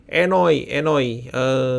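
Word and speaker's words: enojn: Oh iya, bacanya bukan J. Bacanya Enoi. Y, ini J itu bacanya Y. Enoi.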